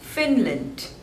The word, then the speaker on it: Finland: Fiji Fiji next is Finland Finland there are two syllables and the stress is on the first one Phil lent Finland Finland